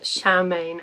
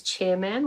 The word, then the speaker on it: Charmain: this girl named charmain I will say the way it's spell it has all the same letters as the word chairman and my brain just keeps reading it as chairman which is not helpful but basically at this